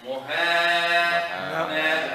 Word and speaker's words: مهانا: Muhana.